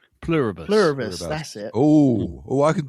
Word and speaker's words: Pluribus: I have trouble pronouncing this, but I think it's Pluribus. Pluribus, that's it.